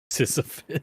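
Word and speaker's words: Sisyphus: Ciphus. Ciphus. Sisophus. That is how that is pronounced.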